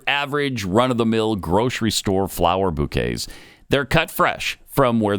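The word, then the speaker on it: Bouqs: It's spelled B-O-U-Q-S. It's short for bouquets, so you can remember it that way.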